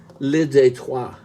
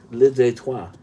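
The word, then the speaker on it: Le Détroit: of the album is li detroit which means the border spelled like detroit li detroit and the group is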